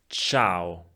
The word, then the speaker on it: ciao: In the second one, the letter C is pronounced Ch. Ch. Culla, ciao.